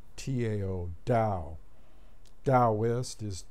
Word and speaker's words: Tao: who don't know is pronounced da as in like there's a D in there Tao da Dost is T